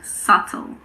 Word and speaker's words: subtle: There are also a few words in which the B is silent before the letter T. These words are debt, doubt, and subtle.